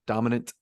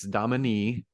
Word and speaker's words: Domani: says that in there dominant like like putting the two together uh but no no it's dominee oh so Domani the the emphasis on the middle the middle uh syllable there but uh I